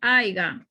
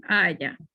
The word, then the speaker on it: haya: Bien, también cuando decimos palabras, la pronunciamos mal o por desconocimiento, vemos que es aiga. Ya muchas personas dicen aiga, deberíamos decir es haya.